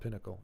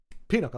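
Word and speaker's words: Pinochle: a popular game Pinnacle it's not Pinnacle pin Pinnacle Pinacle peanuckle that's how you say it peanuckle cool all right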